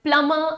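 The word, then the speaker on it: plumber: इसे हम कहेंगे प्लम सो यहां पर प्लंबर नहीं थंब नहीं डंबर नहीं जसे डम प्लंबर प्लंबर नहीं प्लमर एंड थम सो एम बी वाला जो कमो होता है उसमें बी साइलेंट हो जाता है कूल एवरीवन नेक्स्ट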